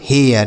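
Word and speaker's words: hair: उसी तरीके से एच ए आई आर, इसे हम पढ़ेंगे हेयर, यह होगा इसका सही उच्चारण।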